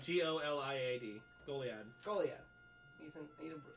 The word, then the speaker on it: Goliad: The G is silent. Oh, it's Goliad. G-O-L-I-A-D.